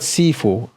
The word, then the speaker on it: Sifu: The word Sifu comes from two words, right? And but basically it's broken into 2 syllables, si and fu.